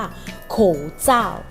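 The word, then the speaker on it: 口罩: คะ หน้า จาก อนามัย ภาษา จีน ออก เสียง ว่า โขง เจ้า โคงส้าง คือ หน้า กาก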